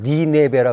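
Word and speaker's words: Nineveh: 그 폐허 속에 있다가 이제 고고학 발굴에 의해서 유명해졌는데 역시 이 고고학계에서 니느웨 그쪽에서는 영어 발음은 니네베라 그러거든요.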